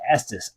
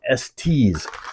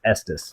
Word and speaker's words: Estes: Now, I say Estes. I've heard people say Estes. I don't think so. I think it's Estes. That's the way I'm going to pronounce it.